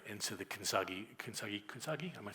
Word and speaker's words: kintsugi: And so the kintsugi, am I saying it right? Kintsugi, thank you. I think probably somebody would pronounce it better.